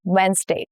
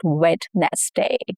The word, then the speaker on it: Wednesday: Our meeting is on Wednesday. Wednesday. Over time the middle consonants got swallowed up in fast speech and that is why we lost D. The sound of D. Wednesday. It's not wet nest day.